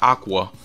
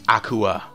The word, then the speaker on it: Akua: her name is spelt it's not aqua its Akua Akua and saves it which